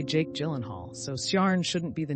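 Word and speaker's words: Ciarán: Is Ciarn pronounced differently to Kieran? Nope.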